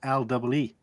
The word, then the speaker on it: Lea: It's made by a company called Lee & Perrins, and the Lee in that is spelled Lea.